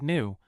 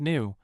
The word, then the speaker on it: หนู: Pronounced like new, with a slightly higher pitch.